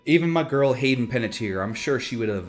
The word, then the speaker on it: Panettiere: Hayden Panettiere. That's how you pronounce it.